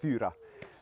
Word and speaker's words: fyra: fyra as a name when he pronounced it in original Swedish it's pronounced pewter and it actually means for so when I realized